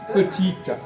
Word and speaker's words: petit: Vous savez, le français, je donne un exemple de bon, petite. On ne prononce pas le T de petit, pourquoi?